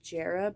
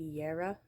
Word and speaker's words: Jera: I keep pronouncing this as Jera, but it's actually Yera.